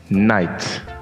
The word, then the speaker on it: night: d down sh the gh is silent so whenever you say them it's night night so that's the first